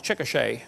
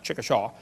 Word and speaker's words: Chickasha: it 2005 textbook and I pronounced it wrong as Chickasha that's Chickasaw Chickasha Oklahoma I got corrected during